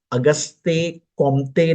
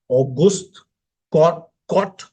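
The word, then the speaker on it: Auguste Comte: again French name है इनका नाम अगस्ते कमते नहीं है प्रोनंसिएशन हालांकि प्रोनंसिएशन मैं मानता हूं इतना फर्क नहीं पड़ता जब तक आप सही स्पेलिंग लिखते हो और आपको सही ज्ञान है तब तक प्रोनंसिएशन डज नॉट मैटर ऐसा मेरा पर्सनल मानना है लेकिन इनका नेम ऑगस्ट कॉट करके पढ़ा जाता है ऑगस्ट कॉट करके पढ़ा जाता एम साइलेंट होता है इज कंसीडर्ड टू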